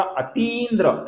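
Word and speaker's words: अतीन्द्रः: गौर से देखिए दोस्तों यहां पर दीर्घ ती है अति नहीं है अति है तो इसका अती इंद्द्र ऐसा उच्चारण हमें करना है अति अती्द्र ये गलत उच्चारण होगा। अती्द्र ये सही उच्चारण होगा।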